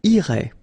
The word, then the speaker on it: irais: Same thing here, final S not pronounced.